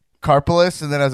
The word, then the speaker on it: Karpeles: Karpeles.